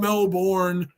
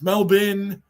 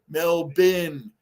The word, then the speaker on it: Melbourne: were like, it's not Melbourne. It's Melbourne. They had to spell it out like Bruin does from the old time. It's MEL/BIN, Melbourne, even though they're just doing that for the pronunciation.